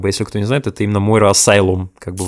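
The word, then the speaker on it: Moira Asylum: То есть, в общем-то, если что, то это именно что, как бы, если кто не знает, это именно Мойра Асайлум, как бы в оригинале произносится.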